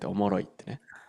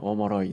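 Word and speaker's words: おもろ: "Omoro" Yeah, that's right "Omoshiroi" is abbreviated like this and it's pronounced "Omoro." Is that Kansai dialect? People in the Kansai region use "omoroi" quite often Like "Omoroiwa"?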